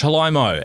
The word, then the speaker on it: Faraimo: Today we're talking to Faraimo, and we're going to be delving into the story. Great work, mate. That pronunciation, you nailed that.